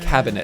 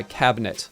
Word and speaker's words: cabinet: They really pronounce that I in the middle, the cabinet. Pretentious. You notice that I I have say- dropped the I, cabinet.